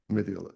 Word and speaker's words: Mendiola: can I hear the pronunciation? Mendiola, okay, that's it.